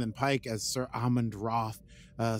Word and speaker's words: Ralth: what's his name ralth Roth oh I forg spelled ralth but it's it's pronounced Roth or something like that uh and